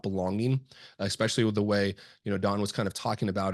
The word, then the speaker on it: Don: When me and Don first got on this a call, I actually pronounced his name Dan because it is written that way, and he actually corrected me. It is Don, and then he kind of provided his background, and I think that too, folks.